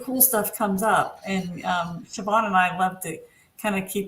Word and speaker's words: Siobhan: And I don't know if you can put yours up there, Siobhan. First, Siobhan is just how it sounds. That's how you spell it. Right? As long as you're Irish, yeah.